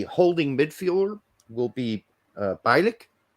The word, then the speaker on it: Bielik: midfielder will be uh bilik that's how we would pronounce that in germany at least um he plays